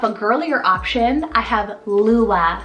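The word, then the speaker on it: Luah: Then for a little bit more of a girlier option, I have Lua, spelled L-U-A-H.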